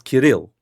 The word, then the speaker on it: Kirill: You put the enunciation on the second syllable, not the first. It's Kirill.